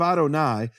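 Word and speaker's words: אדני: things here is that the first letter of Adonai is silent. Why is it silent? Because in Hebrew you have laai. So la it's a contraction just like you say in English cannot becomes can't. It's a typical contraction. It's called the elision of the olive in in Hebrew linguistics. Laoni silent olith.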